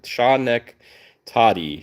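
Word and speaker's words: Schenectady: I love when people pronounce things for me, or like break it down for for my terrible pronunciations. Shaw neck tati. Shaw neck toddy.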